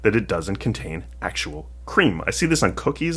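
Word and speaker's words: crème: Frappuccino blended cream but cream is spelled c r m with an accent on the first e um and that is the French word for cream so what does this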